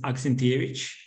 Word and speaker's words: Aksentijevic: So my last name is Aksentijevic. This is the right pronunciation.